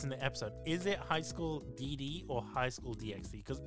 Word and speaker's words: High School DxD: But like the X in this regards, when it comes to a Japanese title, it represents like an ampersand that you don't pronounce.